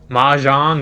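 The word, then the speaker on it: mahjong: You are a major pronounced like ma jang.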